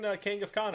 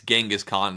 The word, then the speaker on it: Genghis Khan: We talked about this during the fucking Kangas Khan episode. That's what it's from. And again, it's Genghis Khan, not the Pokemon.